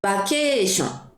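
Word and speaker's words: バケーション: 바케이션. 여러분 이거 장음 있습니다. 바케이션.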